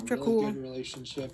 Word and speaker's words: Dracule: Dracule.